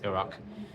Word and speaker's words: Iraq: Some people call it Iraq, but the correct pronunciation is Iraq.